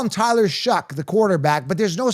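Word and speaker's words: Shough: But but you pronounce it shuck.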